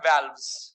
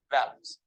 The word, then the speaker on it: valves: नॉट वॉल्व, pronunciation is वैल्व्स नॉट वॉल्व। ठीक आहे, हिंदीत नाही बोलायचं, इंग्लिश आपल्या सवय राहते ना, इंग्लिश शब्द हिंदीत बोलायची, बोलायला काही प्रॉब्लेम नाही, प्रोनाउंसिएशन हिंदीत नाही करायचा, it will pronounce like wall otherwise, है ना, it's not wall, so that is what valves। तो हार्ट valves क्या है पता है आपको?